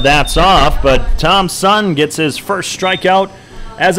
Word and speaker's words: Tom Sun: It's Tom Sun, just like you would think it's spelled, T-O-M-S-U-N, as a breaking ball.